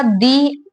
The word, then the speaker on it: the: में रिपीट करती हूं जब हम किसी वोल वर्ड के पहले टी एच ई द लिखेंगे तो वो द प्रोनाउंस नहीं होगा वो दी प्रोनाउंस होगा दी एंड और जब